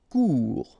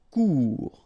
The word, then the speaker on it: court: Court. Final T not pronounced. Court. Remember, when you combine this O and U together, you get the sound OU.